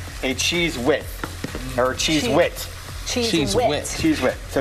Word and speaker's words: cheese wit: And that becomes, to say it correctly, a cheese wit.